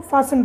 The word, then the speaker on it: fasten: उसी तरह से FASTEN, फासन, है ना, क्या पढ़े, इसको फासन पढ़ रहे हैं। यहाँ पर भी टी है, बट टी क्या है, साइलेंट है, ठीक है।